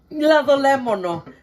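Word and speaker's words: λαδολέμονο: Lado lemono. That's the right way to say it. Ladolemono. That's in Greek.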